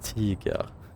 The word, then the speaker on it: Tiger: Depending on where you're from. In Russian it would be Tiger. But in German it's Tiger.